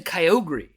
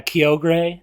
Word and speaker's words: Kyogre: How would you pronounce Kyogre. It? Is that how I pronounce Yep, it? see, because the anime says that. People say Kyogre. Yeah, Kyogre.